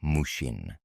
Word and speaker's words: Mushin: It is called Mushin, pronounced mushin.